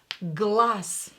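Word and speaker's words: глаз: weird answer at weird glass glass here you can hear that I pronounce there as s glass because voiced consonant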